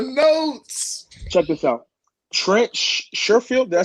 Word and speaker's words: Sherfield: Trent Sherfield, did I say it right?